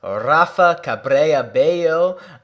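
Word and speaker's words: Rafa Cabrera Bello: to say his name his name correctly it's rafa cabre abayo he has been playing excellent this year oh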